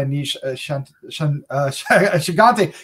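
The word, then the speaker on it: Aneesh Chaganty: dark dark secret from her it's directed by a niche uh shigante you know i said it right during the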